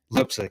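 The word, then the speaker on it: Leipsic: up in a small is it lipsick lipsick is how you say it yeah where the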